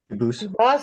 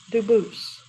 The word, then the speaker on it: Dubose: same exact spelling in America and they do pronounce it Dubose, but you said you pronounce it Dubose, as the original Dubose. As the original French French, yep. Very well, Dubose.